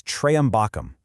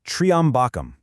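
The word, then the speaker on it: त्र्यम्बकम्: The word referring to the three-eyed one, Lord Shiva, is very often mispronounced as Trayambakam, but the correct phonetic strike It's triambakam.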